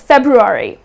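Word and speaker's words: February: but it is febru re ok so it's februari that's how you would pronounce it the next one debris you know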